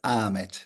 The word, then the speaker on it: Ahmet: Hello, it is Ahmet. Yes, Ahmed. yes. Usually in Turkey we don't pronounce the H, so it's Ahmet. Yeah, it's more the Arab Yeah, Ahmed and the Turkish yeah.